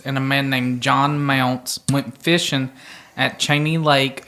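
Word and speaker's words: Mounce: last name John Mound mounts it's m o u n c e oh Mount oh like a like you pounce on a mount is that like almond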